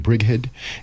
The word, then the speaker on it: Brighid: So I'm going to welcome Brighid and Ed Hillmuth, right? Yep. Did I say it right? It's Brighid.